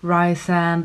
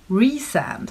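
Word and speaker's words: Rhysand: to see how i would come to enjoy rye sand and ferry as a couple apparently though i found on the last page of the book there's a pronunciation guide so ryzen is apparently pronounced as re-sand i've been saying rice and this whole vlog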